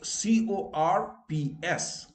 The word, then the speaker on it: corps: It is CORPS. And I have written the pronunciation, co. Like he works in the Army Supply Corps. But wrongly people say he supply, yes, corps. Okay.